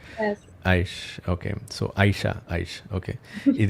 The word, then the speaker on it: Aish: That's how it Yes, is pronounced, right? yes. Aish.